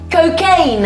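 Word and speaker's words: Cokeagne: calls this cocktail is cocaine. I quite like that. Well, yeah, but you wouldn't expect that from Tom Hanks, but let me tell you, it's spelled C-O-K-E-A-G-N-E. Oh, like Coca-Cola and champagne.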